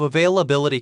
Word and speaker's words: availability: Was my pronunciation of availability correct? It was good, but emphasize the second syllable.